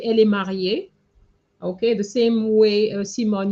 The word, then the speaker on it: mariée: would say elle est mariée. Okay, the same way, Simone, you put mariée, same pronunciation with the ER.